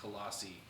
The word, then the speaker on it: Colossae: It still is pronounced Colossi.